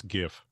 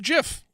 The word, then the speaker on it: GIF: By the way, it's GIF. It's, well, see, I pronounce it GIF, right? Because, like, if your argument is because it's graphic, it's a hard G graphical. Yes. Then why isn't it JPHEG? Because photographic is not F. It is a PH.